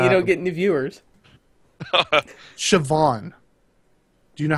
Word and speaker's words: Siobhan: there you go it's s-i-o-b-h-a-n Siobhan with a v I I had known